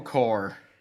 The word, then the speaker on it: Corps: There is an S at the end. Oh, right. It's a silent S. The necessary P and S.